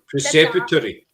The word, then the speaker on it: Preceptory: Well, so you did I'm going to get the pronunciation of this place wrong. Preceptory. Oh, Torpichen Preceptory. Yep. Preceptory.